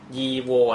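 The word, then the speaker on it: его: ครับ ยีว นะ ครับ บาง คน อ่าน อ้า ทำไม ไม่ อ่าน ว่า ยี นะ ฮะ คือ พูด ยี เร็ว ๆ นะ ครับ หลาย ๆ รอบ จะ รู้ สึก ว่า ยีก เนี่ย มัน ออก เสียง ยาก นะ ครับ คน รัสเซีย ก็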